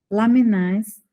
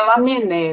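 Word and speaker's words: Lamennais: Lamenais, nosso guia espiritual, eu não sei se assim se pronuncia, encarrega... Tanto faz, mas é Lamené, viu?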